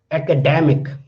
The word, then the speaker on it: academic: But if I add ic after this word, then the stress is shift. Then the word will be academic. Academic.